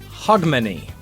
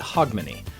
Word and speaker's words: Hogmanay: one's more browser peace Hogmanay and I always say it wrong but hog money so happy hog money